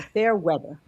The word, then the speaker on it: Fairweather: And next, Featherway is a best-selling, did I say Featherway? I'm sorry, Fairweather. I'm always picking on her name. For years, I've known her. We used to call her so people would say her name properly.